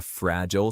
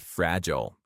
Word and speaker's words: fragile: Did you know that fragile has two pronunciations? Fragile and fragile. Both fragile and fragile are correct. However, fragile is the British pronunciation, while in American English, both fragile and fragile are used, with fragile being more common.